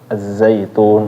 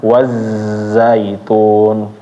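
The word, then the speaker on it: الزيتون: Az-zaitun. Enggak wazzaitun. Nah, keliru kalau bacanya seperti itu. Wazzaitun.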